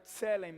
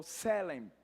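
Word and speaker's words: צלם: Então essa palavra imagem, ela vem do hebraico tselem ou selem, se escreve assim, T-S-E, mas não tem nada de votação.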